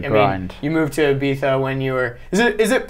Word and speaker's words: Ibiza: You moved to Ibiza when you were. Is it proper Ibiza or Ibiza? Like I don't know. I'm English, so we always say Ibiza, which is definitely wrong. It's actually Ibiza.